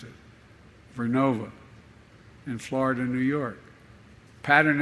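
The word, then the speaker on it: GE Vernova: going to go into turbines made by GE Verona excuse me I mispronounced it vernova in Florida New York pattern energy will use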